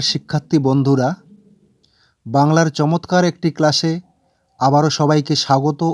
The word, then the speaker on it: কৃ: ব্যঞ্জন বর্ণ লিখে নিই যেকোনো যেমন আমি লিখছি ক ম দ প গ ত ব ন এবং